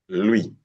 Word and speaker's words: lui: Now for the U sound, we now add a pronounced vowel. In the same syllable, it gives you the we. We have with, lui. Is it clear now? With and lui.